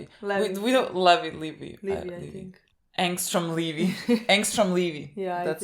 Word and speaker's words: Angstrom: fighting Armstrong where he It's not even Armstrong. We keep saying his name wrong. I just figured this out. You keep saying I keep saying you told me that his name it's not Armstrong. It's Angstrom. Angstrom. Angstrom.